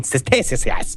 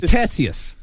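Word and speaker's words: Ctesias: Western literature belongs to Greek historian Cessius. I don't know how to pronounce that. Cistius. It's Tessius. It's Tessius. Tessius. Why you put a C in there?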